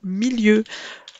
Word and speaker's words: milieu: Attention à l'orthographe du mot milieu. Il se prononce bien milieu avec le son le et non le son ye.